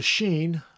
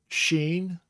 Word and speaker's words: shin: Spelled in English as S-H-I-N, but that's not shin, it is sheen.